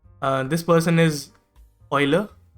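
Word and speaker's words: Euler: तो this person is ऑयलर इसको यूलर पढ़ देते हैं लोग बट इट इज ऑयलर Leonard ऑयलर actually an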